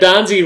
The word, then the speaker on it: Donzie: Brad Donzie rhymes with Fonzie.